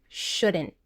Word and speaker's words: shouldn't: The contraction of should not is shouldn't, with 2 syllables. In the second syllable, you basically only hear the n sound, followed by a stopped T. And that's because the next word begins with a consonant.